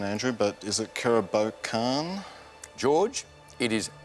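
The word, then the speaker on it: Kerobokan: Not sure on the pronunciation, Andrew, but is it Karabokan? George, it is Karabokan.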